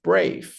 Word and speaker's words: brave: El siguiente sonido o la siguiente palabra es brave, brave, no suena la E.